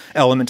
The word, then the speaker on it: LMNT: Element is spelled L-M-N-T.